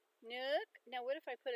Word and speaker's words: nước: Nook, because it's got the accent going up. Nook.